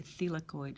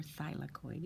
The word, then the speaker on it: thylakoid: of the chloroplast called the thylakoid or thylakoid. It depends on who pronounces it and where.